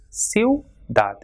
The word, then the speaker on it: ciudad: So here in this word you can see I and U comes together, these two weak vowels, and it is pronounced as ciudad, U.